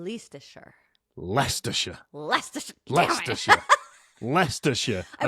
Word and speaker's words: Leicestershire: Sorry, ignore the I, and then pronounce it like you did then. Leicestershire.